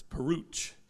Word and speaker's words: Peruch: I first met him, it was like rhymes with pooch, so it's Peruch.